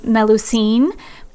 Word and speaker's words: Melusine: And fun fact, the Starbucks mermaid with two tails is from the legend of, I think you pronounce her name, Melusine.